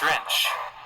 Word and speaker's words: drench: Drench. ड्रेंच, Drench. Drench. Drench. तो देखिए इसका प्रोनाउंसिएशन होता है ड्रेंच।